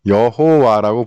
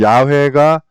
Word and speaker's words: YHWH: 그래서 그 방점은 찍힌 발음 기호대로 하니까 이게 이 YHWH가 야훼로 발음이 되더라는 겁니다. 그런데 사실 이것도 정확한 발음은 아니에요. 정확한 발음은 잊어버렸으니까. 그래도 야훼가 원음에 가장 가까운 발음이다.